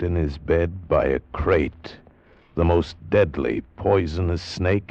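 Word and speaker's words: krait: what kind of a guy Harry Pope was and what kind of a snake a crate is. First, the crate. You spell it K R A I T.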